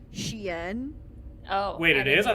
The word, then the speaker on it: Shein: This is almost as bad as how I found out that website Shine is actually pronounced Shein. Oh. Wait, it is? I thought it was that. Sheen.